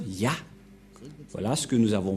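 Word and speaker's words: יה: Cette forme se prononce Ya.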